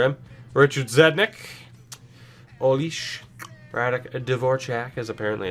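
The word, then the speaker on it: Dvořák: Radek Dvorak, as apparently it's pronounced, which is really weird.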